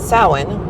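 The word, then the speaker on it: Samhain: year starts at sin, which is s a m h a i n. Uh, gayord, if I'm not mistaken, which is why those letters and the pronunciation have very little resemblance to each other.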